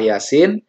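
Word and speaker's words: يس: Jadi kalau membaca surah Yasin, maka jangan sama panjangnya. Jadi ya-nya 2 harokat, sin-nya 6 harokat.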